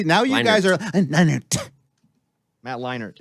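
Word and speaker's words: Matt Leinart: leinard Matt leinert right there's no D in his name yeah but it's pronounced Matt Leonard say his name Matt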